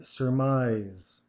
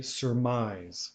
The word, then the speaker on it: surmise: simulate succumb succumb and surmise sir mine okay so make sure INSERM eyes that the accent will go on the second syllable okay surmise surmise okay so let's